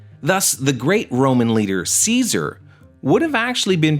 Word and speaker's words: Caesar: the past 2000 years the sea in Romance languages began to soften so slowly the lat old Latin pronunciation Kaiser becomes Caesar however the memory of